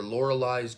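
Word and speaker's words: Loreley: I watched and then the second one's the laureles or lauraliz grasp I thought it was laureles grasp but in the movie they pronounce it Laura Li and uh no reversible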